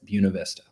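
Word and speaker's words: Buena Vista: of buav Vista which weirdly enough that's how you pronounce it buav Vista and Avalanche is what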